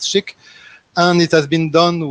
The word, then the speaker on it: SCHC: So SCHC is pronounced SCHIC.